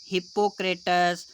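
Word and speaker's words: Hippocrates: इसके बाद अगला है औषधि विज्ञान के जनक कौन है, हिप्पोक्रेटस। कहीं कहीं पे हिप्पोक्रेट्स लिखा होता है, कहीं कहीं पे हिप्पोक्रेटस, वो अपने अपने उच्चारण है।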